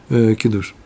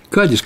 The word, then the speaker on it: кадиш: траур в это время они произносят кидуш кидуш я всё время Говорю давно я так говорю Нет кадиш конечно же это чувство ая пишет